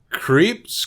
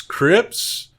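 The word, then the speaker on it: Krieps: oh we gotta watch this kid uh Vicky creeps Crips uh it's spelled k-r-i-e-p-s she plays Alma Daniel Day Lewis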